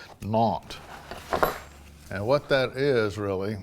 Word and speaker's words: Nantes: But the ones we're growing today is the Nantes. The S in it is silent. Nantes.